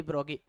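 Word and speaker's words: Broglie: France named Louis de ब्रोगली। Louis de ब्रोगली, ब्रोगी होता है actually, okay. French में इसका प्रोनाउंसिएशन लुई डी ब्रोगी, ओके।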